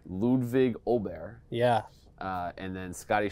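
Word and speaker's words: Åberg: was it hovland and uh we have the pronunciation now of oh bear Ludwig ol' Bear yeah uh and then Scotty Chef like Brooks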